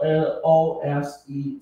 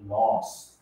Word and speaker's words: lose: 照理说，L O S E，这应该照发音规则来讲，一个人帮他要发音应该是念 loss，但是发 lose，OK，、okay, 可是后面